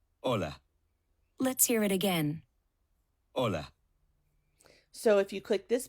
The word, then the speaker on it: hola: did you notice that although hola starts with the letter H it is not pronounced the letter H is